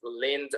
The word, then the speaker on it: leaned: So in this case is leaned over, because it's a D sound, right?